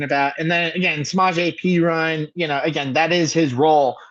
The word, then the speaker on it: Perine: When he introduced him on draft day, man, it's Perine, bro. Perine.